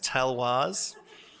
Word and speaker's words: Talloires: so for the uneducated it's not calories as I thought it was it is is talwars we are bringing style to the substance here at deakin even in the way we pronounce this so on world environment